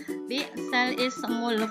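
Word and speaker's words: بئس الاسم: Nah, bukan bisal ismu, tapi bacanya bisalismu.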